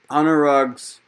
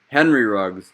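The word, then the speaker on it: Henry Ruggs: that and he's a really good prospect so honor rugs uh as a lot of people have seen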